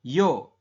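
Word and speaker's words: 여: Kemudian apabila garis tengahnya ini ada 2 menghadap ke kiri, maka dia bunyinya adalah yo. Tulisan latinnya itu yeo, tetapi kita bacanya adalah yo.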